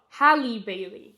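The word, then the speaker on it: Halle Bailey: Oh hali Bailey.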